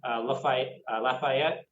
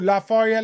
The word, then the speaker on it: Lafayette: Orleans to Texas, you make a stop in Lafayette, Louisiana. Well, yeah, no, I think you pronounced it correctly. Yeah, down on the bayou, Lafayette, Louisiana.